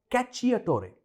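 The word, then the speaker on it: cacciatore: The correct pronunciation is कैचियोटोरे। Italian में सी और सी को एक साथ जोड़कर ची साउंड बनता है, कैचियोटोरे।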